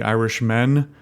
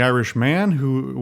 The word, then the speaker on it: The Irishman: The Irishman is, or The Irishman, I should enunciate on this because I think I certainly thought, and I think other people did as well, either based on pronunciation or just not reading, that it was the Irishmen, M-E-N plural, but it's the Irishman, which is actually a